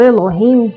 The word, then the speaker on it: Elohim: Os Elohim, a pronúncia correta é assim mesmo, sem o S, pois quando falo Elohim, estou me referindo a vários desses seres, e quando me refiro a apenas um, digo Elohai. Estes anjos são muito citados